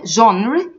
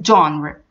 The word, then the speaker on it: genre: genre genre in movies it's not genre it's John were another example they wanted